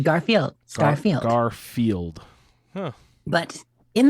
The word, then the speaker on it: Garfield: Garfield should not be a 3-syllable name. Interesting. No, it's just Garfield.